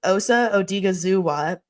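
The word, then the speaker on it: Osa Odighizuwa: they signed I'm G to make sure I pronounce this right Osa odiga zua to a four-year 80 million contract um he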